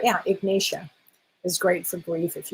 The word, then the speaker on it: Ignatia: Ignatia is a great one for, that's the right, am I saying it right? Yeah, Ignatia is great for grief if you are in deep grief.